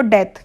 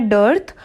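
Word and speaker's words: dearth: पहले तो कई लोग जल्दी जल्दी में क्वेश्चन पढ़ेंगे, इसका जल्दबाजी में हम पढ़ेंगे इसको डेथ, तो डेथ नहीं है, इसमें आर भी लिखा है। इसका प्रोनाउंसिएशन है डर्थ, और डर्थ का मतलब होता है अकाल, ठीक है।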